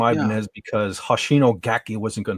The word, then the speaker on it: Ibanez: And occasionally I'll wear them out, and people come up to me and go, Ibanez. No, maybe that's how it was originally pronounced, but it's a Japanese guitar company, and they say Ibanez, so that's what I say.